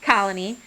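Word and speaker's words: Koloni: doing so we found colony which is um with a k it's a little confusing but it's pronounced colony and they really understood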